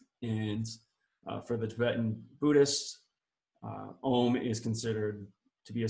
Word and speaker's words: Om: But understanding the symbol a little bit more, and understanding the AUM, because I know when I first learned that Om was actually Om, AUM, it was a bit confusing.